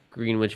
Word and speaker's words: Greenwich: Greenwich Village yesterday. All right. Yeah. Greenwich, by the way, Mister. I don't live in New York. Greenwich Village. Greenwich.